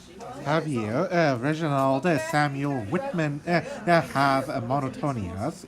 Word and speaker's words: Javier: Oh, It's pronounced Javier, actually. All right, guys. You always go. It's Spanish.